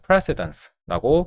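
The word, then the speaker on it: precedence: pridence 그러니까 강세를 좀 잘 챙겨야 한데 prid스입니다. 동사를 쓸 때는 prceed라고 발음하지만 pridance라고 맨 처음에 강세가 들어간다는 거 확인했고 자 첫 문장 볼게요.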